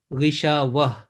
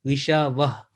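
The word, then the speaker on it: غشاوة: to make a stop, what will be the pronunciation? It will be ghishawah, because this tai marbuta,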